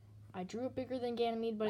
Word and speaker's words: Ganymede: decent-sized I mean it's not as big as gaining me but Ganymede but it is decent-sized might also have water